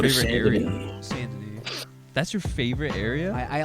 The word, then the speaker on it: Saint Denis: I know that's pronounced Saint Denis.